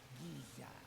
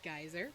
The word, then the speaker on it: Giza: master of this waterfall that's not how i would have pronounced that name i would have said geyser but okay you know i'm happy to be wrong thank you for correcting